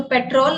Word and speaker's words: पेट्रोल: डलवाने जा रहा हूँ, तो पेट्रोल नहीं पेट्रोल। नेक्स्ट टाइम से जब भी आप गाड़ी में पेट्रोल नहीं पेट्रोल डलाने जाएंगे, ठीक है, तो इसका सही उच्चारण करना जरूरी है।